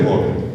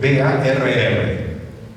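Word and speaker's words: Barr: se llama corpúsculo, que es el corpúsculo de Bohr, B-A-R-R. Si tiene bar o Bohr, como se pronuncie, si tiene Bohr, es mujer.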